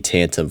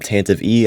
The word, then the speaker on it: Tantive: Today we're going to be taking a look at 75387 boarding the Tantive IV. And yes, it's pronounced Tantive, not Tantive E.